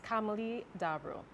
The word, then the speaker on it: Camille Dabro: vote of thanks miss camilie de abro and if i pronounce that incorrectly kamili can you tell the audience the right pronunciation of your name please sure carrot it is camille dabro i do apologize so